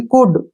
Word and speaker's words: could: अगर डी से पहले एल आए तो एल साइलेंट रहता है। जैसे COULD, डी से पहले क्या आ गया? एल आ गया, ठीक है ना, तो एल को हमने छोड़ना है, इसको पढ़ेंगे हम COUD, यानी कि कुड।